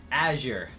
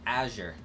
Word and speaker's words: Azure: Azure. That's how I'm supposed to pronounce it. Azure.